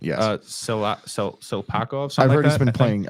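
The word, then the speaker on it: Tsyplakov: Hold up, Silpakov. I think that's how you pronounce his name. It's a T. It's the T is silent. Yes. Silpakov.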